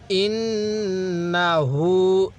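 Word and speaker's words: إنه: ইন্নাহু, এই নুনের মধ্যে আবার টান দিব না, হায়ের মধ্যে টান দিব।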